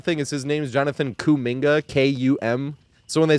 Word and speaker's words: Kuminga: Is his name's Jonathan Kuminga, K-U-M. So when they say cum bucket, they spell it with a K, K-U-M bucket.